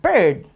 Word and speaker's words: bird: you have the word bird the water flies it's bir d and it actually rhymes with the word heard so that's what makes